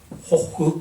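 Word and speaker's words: Gogh: 사람들이 참 빈센트 반 고흐를 좋아한다라고 하는 것을 알 수 있죠. 영어로는 고흐지만 네덜란드에 가면 고흐 하면 잘 모릅니다. 호흐 이렇게 해야 됩니다. 더치, 네덜란드는 히읗 발음이 많아요. 호흐 발음이 잘 안 되죠.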